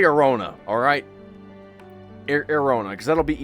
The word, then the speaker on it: Airona: It's pronounced Arizona. Like Arizona, but with a N at the end. Arizona is pronounced Arizona, the same as the state of Arizona. It is not pronounced Arizona or Arizona, and the Z sound is pronounced like the Z in zone.